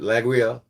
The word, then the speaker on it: Laguiole: That's when Laguiole, which Laguiole, the knife itself, and that's how you pronounce it, Laguiole.